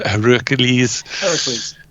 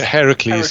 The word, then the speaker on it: Heracles: can't even say his name again now uh herokules Heracles Heracles yes um the song at times slows down